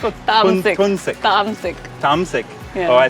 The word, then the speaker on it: Tamsik: I'm not feeling was it tumsik or Tamsik. tunsik? Tamsik.